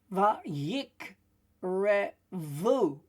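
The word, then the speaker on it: וַיִּקְרְבוּ: Also, when there's two shavas, the second one has a short E sound behind it. So it is va'yik revu. That's why we've got the E there, right?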